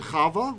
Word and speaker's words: Chava: So for example, Adam and Chava, we usually say Chava, but her name has a Vav, which was a W sound.